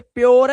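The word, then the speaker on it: pure: hello are आर ध्यान से देखो अगर किसी वर्ड में यू के बाद आर ई आए तो यू को इसने यू को देखो बना क्या दिया इसने देखो तो इधर ओ सोचो यू को ओ बना दिया इसने अब देखो जैसे यहां ये प्योर है ओ ओ प्योर श्योर प्योर इसलिए बेचारे अनपढ़ लोग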